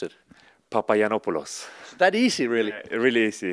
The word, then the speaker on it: Papagiannopoulos: is that famous last name how do you pronounce it papaya nopales that easy really really easy it's gonna be